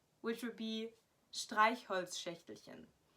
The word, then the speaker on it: Streichholzschächtelchen: pronounce, which would be Streichholzschächtelchen. Because it has so many of those sh sounds that just aren't common in like the English vocabulary, that people just don't know how to say them. So Streichholzschächtelchen is probably really a